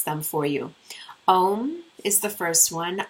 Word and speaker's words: Om: So I'll just pronounce them for you. Om is the first one. Aum, Om.